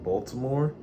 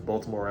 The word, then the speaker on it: Baltimore: So throughout this clip, I'm going to be saying Baltimore, because that's literally how Black Baltimoreans pronounce it. Baltimore accent challenge. Here we go. Baltimore. Baltimore people say Baltimore. Yeah. White Baltimoreans say Baltimore. Baltimore. B-A-L-M-E-R. So, hey.